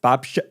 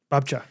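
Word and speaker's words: babcia: was uh or in Polish uh grandma is pronounced Babcha. Babcha.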